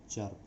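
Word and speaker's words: chirp: आई, तो इसमें आई का उच्चारण नहीं होगा और इसका उच्चारण है चर्प.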